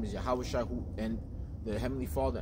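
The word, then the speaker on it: Yahawashi: His name is Yahweh Shai, not Jesus, all right, because the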